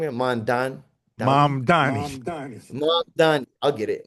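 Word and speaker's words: Mamdani: He raised 24, I think he raised like $24 million for the primary, which was way more than Mondami. Say his name again? Donnie? Mom Donnie.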